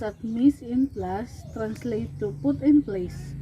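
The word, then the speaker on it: mise en place: store dessert so miss in class so it's pronounced at miss in plus translate to put in place it means to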